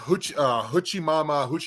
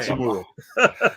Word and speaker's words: Hachimura: And then you have Huchimama, however you say his name. Hachimura.